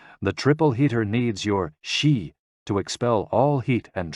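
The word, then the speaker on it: xi: with the spleen and x-i pronounced like she which connects the whole body the following poem by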